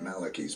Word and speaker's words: Malachi: Saint Malachi's prophecy doesn't speak about another peaceful successor. then he said it wrong again. It's Saint Malachi. It's Malachi. I know him as Malachi.